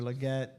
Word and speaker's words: Legette: Uh Xavier Leette comes off. Jquiz. Jarquz Hunter, running back over Rams comes off the board. Told you I'd mispronounce the name. Xavier Legette. Christian Kirk.